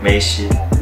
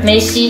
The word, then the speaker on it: 梅西: 普通话叫梅西。梅西就是英文 Messi 的音译。对，梅西。